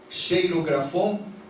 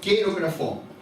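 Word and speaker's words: χειρόγραφον: A palavra que fala ali, o certificado de dívida, que era contrária a nós, é esta palavra, cheirografon, que a pronúncia correta é queirografon.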